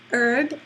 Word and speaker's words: herb: So for example, if a word is spelled with a silent letter at the beginning, for example, the word herb, H-E-R-B, or hour, H-O-U-R, it does begin with a written consonant, but that's silent.